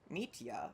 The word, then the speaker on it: Mitia: Mitia. Okay, that's how you pronounce it.